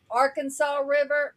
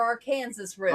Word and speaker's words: Arkansas River: So, I mean it's no different than Arkansas River or our Kansas River.